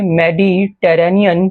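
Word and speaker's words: Mediterranean: Africa के north में मेडिटेरेनियन सी है। मैडी बोलिए मेरे साथ, ये बोला नहीं जाएगा आपसे। मैडी, देखिए स्पेलिंग भी साथ साथ देखिए। Maddie टेरेनियन, Maddie टेरेनियन, मेडिटेरेनियन, मेडिटेरेनियन, मेडिटेरेनियन।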